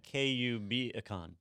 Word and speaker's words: KubeCon: It's actually KUBicon.